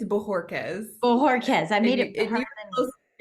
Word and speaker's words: Bojorquez: take this opportunity to introduce you to Jessica Bojorquez. Did I get it right? No. I didn't. Almost every podcast I do, I still don't get it right. Can you pronounce it for us, Jessica? Absolutely. It's Bojorquez.